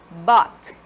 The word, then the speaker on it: bought: Buy, bought. Buy, bought, tá? A letra U não é pronunciada, ela é muda.